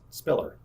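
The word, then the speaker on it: SPILR: limited to five letters the departure identified with the letters s p i l R is pronounced Spiller the proposed procedures allow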